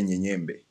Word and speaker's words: Mnyenyembe: Malawans who would say Nyenyembe. Without the M. No, without the M. Like, okay, it's spelled with an M. And actually some people have evolved. It's M-N, not M-U-N. Oh, so it's Munyenyembe.